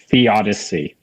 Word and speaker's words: theodicy: When caught in the throes of pain, the sufferer can find little comfort in how do you pronounce that? Theodicy.